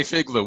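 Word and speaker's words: FIGLU: nobody called fake Lucas nobody pronounce that just say figler we all say figler so this is a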